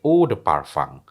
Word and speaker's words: eau de parfum: Kalau campurannya itu misalnya 12%, maka disebut sebagai eau de parfum, eau Mmm. de parfum. Tulisannya Eau de Parfum, bacanya apa?